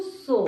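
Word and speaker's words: صبح: इमरूज सो यानी आज सुबह, जैसे हमने यहाँ पढ़ा था इमरूज का मतलब था आज, और सुबह फारसी में वही होता है प्रोनाउंसिएशन सो।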